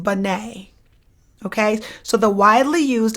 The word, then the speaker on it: Binet: taking your exam uh the name Binet it's French so it's pronounced Binet but it's going to look on paper like Banette b-i-n-e-t so don't get